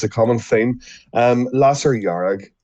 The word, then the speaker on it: Lasair Dhearg: a common theme um lasser yarag is the pronunciation okay i would have